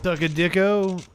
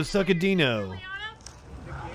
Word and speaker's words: Saccadino: Suckadicko? Is that how you say it, or are you fucking with me? No, Suckadino.